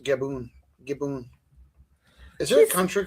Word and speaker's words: Gabon: By the way, I've also heard it pronounced Gaboon. Gaboon. Is there a country called Gaboon? He's sitting in like all of his pictures just like that. Mellow. There's a country called Gabon.